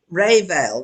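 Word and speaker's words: réveillon: of french at all how do you say is it revere or really ale well however you say it in france ray vale there you go and that apparently means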